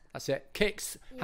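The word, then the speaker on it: Kickz: Kix. That's it. Kix. Yeah. How do you spell it?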